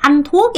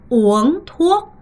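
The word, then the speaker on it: uống thuốc: 절대 안톡이 아니라 오엉톡 요렇게 발음을 하셔야 되고요. 여러분 안톡 된다? 안 돼요. 오엉톡입니다.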